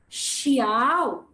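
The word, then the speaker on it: 小: on different pronunciation so i'll first pronounce xiao which means small everyone listen please carefully shiow one more time that means small and then coming too big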